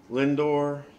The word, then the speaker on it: Lindor: us I think it's house his name is pronounced Lindor Napoli Santana's the D H Ramirez is in